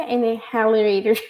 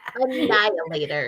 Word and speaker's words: Annihilators: There was a rumor that the team who debuted it in this book that in in how do you say inhalerator? Annihilators.